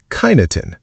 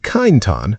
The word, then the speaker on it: Kyneton: Kyneton, Macedon Ranges, pronounced Kyneton. If you call it Kyneton, the wisteria withers slightly.